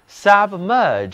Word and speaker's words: submerge: 这里字母 G-E 组合读作 G，嘴唇要稍微的向外凸起 G。这个词的重音在后面的音节上，请跟我读 submerge， submerge。